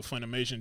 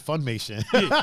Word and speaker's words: Funimation: so goku had three pronounced funimation i always called it funmation it's funimation i'll be deleting letters yeah it's funimation man so yeah they went